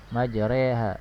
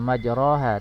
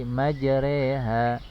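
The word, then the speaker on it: مجراها: 41, yaitu pada lafaz majreha, ya. bukan dibaca majroha tapi majreha. Bismillahi majreha wa mursaha. Bismillahi majreha wa mursaha. Demikian cara membacanya ya. Seperti huruf E ya, seperti huruf E.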